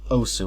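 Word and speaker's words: osu!: That game is called OS, or Osu, whatever you want to say. The correct pronunciation is OS, but I like to say Osu because of my accent.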